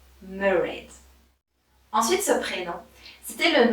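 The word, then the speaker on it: Mairéad: Et il se prononce Mairead. Mairead.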